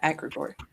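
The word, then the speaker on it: Agregore: Yeah, Agrigor.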